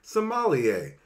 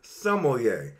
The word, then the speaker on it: sommelier: mispronounce this word saying sommelier. Sem-al-e-yay. That would be incorrect, okay? Now, the proper way to pronounce it is sommelier. So that would be sum, L, and yay.